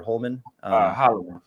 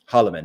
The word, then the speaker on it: Holloman: how do you pronounce, is it Holloman, Austin Holloman or Holman? Holloman.